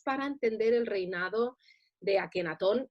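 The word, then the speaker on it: Akhenatón: me cambió el nombre por el de akenatón que si lo pronunciamos bien en español debemos decir ajenatón exacto es esta aspiración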